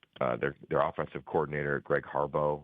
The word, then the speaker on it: Harbaugh: their offensive coordinator Greg Harbo it's still Harbaugh but it's Harbo for pronunciation guide purposes I think they're